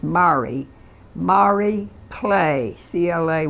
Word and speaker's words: Marie: so did this woman from New Zealand named Marie but it was but it's pronounced Mari Mari play CLA Y and she's known to